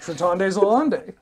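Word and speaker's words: Schreitendes Elend: Schreitondes Elende. I'm going to play Woe Strider. Schreitondes Elende? I don't know. It's in German. How would you pronounce that? Actually, no, you got it perfect. Schreitondes Elende.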